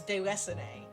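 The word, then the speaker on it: Déraciné: That's close. It's Deracine. Because it's got those accents above the E's.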